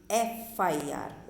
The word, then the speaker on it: FIR: Okay, FIR सुना होगा ना आपने, है ना, तो वो तो FIR है, F क्या है, कॉन्सोनेंट, बट वो साउंड किसका दे रहा है, FIR।